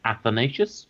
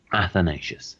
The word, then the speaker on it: Athanatius: It's Athanasius, which means immortal. So clearly I expect to be uploaded into a computer soon. My handle is spelt Athanatius. So that's Athanasius.